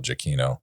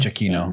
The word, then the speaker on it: Giacchino: I also get some of those things in Lost, which is Michael Giacchino.